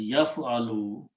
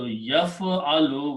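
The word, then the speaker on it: يَفْعَلُ: And we have been seeing that if you put a ya in the beginning and pronounce as yaf'alu, especially this, I want to point out this last letter, lam. Lam has a dhamma on it, pesh on it, okay? So yaf'alu, when you pronounce it this way, this, the meaning will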